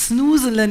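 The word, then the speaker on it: Snoezelen: let sayland Sno snan someone from the Netherlands here yeah it's snin is the right pronunciation um okay it's a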